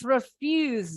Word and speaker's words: refuse: Yes, refuse. Very good. S-nya bunyinya lebih ke Z.